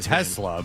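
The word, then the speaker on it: TeSlaa: Yeah, it was annoying me how they were saying his name because it should be Tesla, but it but but they weren't saying they were saying it almost with a shh sound like the tla.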